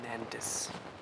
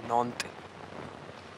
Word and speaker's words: Nantes: castle in Nantes, or Nantes, as the French pronounce it.